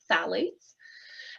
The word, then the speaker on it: phthalates: called phalates I know it's a funny little word there with the pH phthalates but we pronounce it th salades um and salades are